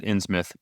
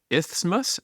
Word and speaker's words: Isthmus: You said Innsmouth. Eric, how do you spell that I think area? it's Isthmus, Oh.